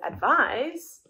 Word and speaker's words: advise: And with advise, the S is pronounced as a Z.